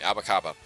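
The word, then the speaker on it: apa kabar: I'm sure you know about the shoe store abakaba. It's literally, I'm not sure if it's spelled the same way, but it sounded the same way, abakaba.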